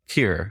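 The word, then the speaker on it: Kir: de Bon um and specifically uh Kier is the pronunciation well when you yeah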